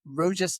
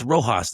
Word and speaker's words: Rojas: Please welcome James Roas Taylor. It's Rohos. The J is pronounced as an H. It's Spanish.